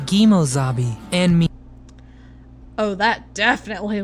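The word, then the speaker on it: Kemosabe: In reality, the term is pronounced Gimozabi and me.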